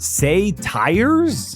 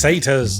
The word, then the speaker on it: satyrs: Say tires? It's satyrs. Okay, I think I got this one.